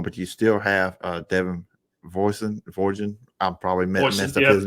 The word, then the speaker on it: Voisin: you still have Devin Voisin. I'm probably messed up his name. Rhymes with poison. That's the best way to remember it.